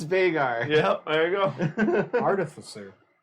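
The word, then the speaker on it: Veigar: wizard hat no again they are listen it's vegar yep there you go artificer artificer oh that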